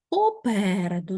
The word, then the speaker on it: попереду: сьогодні у словниковій роботі попереду наголос на другий склад по переду так 4 склади ми